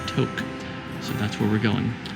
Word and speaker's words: Tok: at least not like an idiot it is pronounced Tok so that's where we're going what a miles